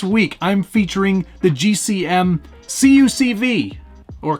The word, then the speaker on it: CUCV: This week, I'm featuring the GCM CUCV, or CUCV, as it's sometimes pronounced.